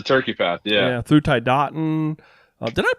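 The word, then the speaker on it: Tiadaghton: that yes the turkey path yeah yeah through thai dating did i pronounce it is that pronunciation right tai dating yep that was pretty much dead-on some people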